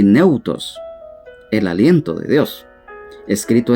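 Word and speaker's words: θεόπνευστος: Esta palabra en el idioma griego cuesta mucho pronunciar, pero lo vamos a pronunciar de la mejor manera. Neutos. Lo vamos a deletrear. T, H, E, O, tilde en la O,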